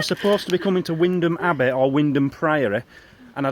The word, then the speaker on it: Wymondham: at, now it's spelt Wymondham Abbey, but it's pronounced Wymondham Abbey, but it could be Wymondham Priory. I don't know where we are. No. I can't remember if we were supposed to be coming to Wymondham Abbey or Wymondham Priory, and I don't know if